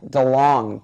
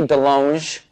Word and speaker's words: DeLonge: I am Tom DeLong, but it should be DeLonge, because I went to France and they said you're pronouncing it wrong. I'm all DeLong. They're all, no, it is DeLonge.